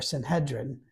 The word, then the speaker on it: Sanhedrin: more moving on before the Sanhedrin um or Sanhedrin as it's usually pronounced uh on among Scholars